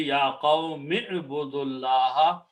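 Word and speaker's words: يَا قَوْمِ اعْبُدُوا اللَّهَ: So you do not pronounce this alif, you do not pronounce this waw, you don't pronounce this. Combine meme with the ayn. Ya qawmi budullaha.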